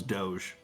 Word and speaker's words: Doge: That's how you pronounce it? No, it's Doge.